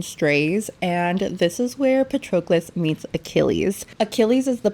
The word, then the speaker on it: Patroclus: I finally learned how to pronounce his name. It is Patroclus.